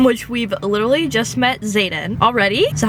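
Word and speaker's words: Xaden: chapter one in which we've literally just met Zaden already so how you say his name hold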